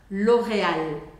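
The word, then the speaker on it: L'Oréal: em português é que em português você vai muitas vezes usar a ponta da língua para pronunciar o r lor né exagerei um pouquinho Loreal Loreal em francês não você deixa sua língua relaxada e vai usar como se fosse um ar saindo pela garganta Loreal Loreal te repete a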